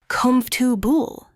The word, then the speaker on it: comfortable: Another tricky word is comfortable. Don't say all the syllables. Native speakers say comfortable. Repeat with me. Comubable.